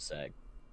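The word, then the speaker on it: CeX: Called SAG. But it's spelled with a C hey, instead of an S.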